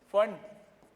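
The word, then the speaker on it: Pfund: फंड हाँ, P silent रहता है।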